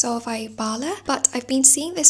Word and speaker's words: Solvej Balle: Okay, so just going off the video I watched I think it's pronounced Solvay Balle, but I've been seeing